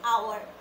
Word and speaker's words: hour: Then, hour. We don't say hour, we say hour. H is not pronounced, correct?